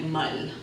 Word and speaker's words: mar: Puerto Rico and Cuba, people pronounce the R as an L sound. So mar for ocean will sound like mal.